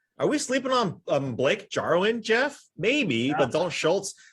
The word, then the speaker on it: Jarwin: Look, let's not forget about Blake Jarwin. I believe that's how you pronounce his first name. Better known as Blake Jarwin. That's how Clash pronounces it. Yeah, Blake Jarwin. I think it's European, soft J.